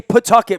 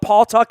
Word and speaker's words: Pawtucket: it's funny you say Pawtucket my wife pronounces it properly people from out like here call it Paul talked a long time yeah people